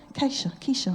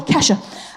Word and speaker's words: Kesha: Keisha, I don't know, how do you pronounce it? Keisha, I thought it was Keisha. Kesha? Oh, whatever. All right, a short E, Kesha.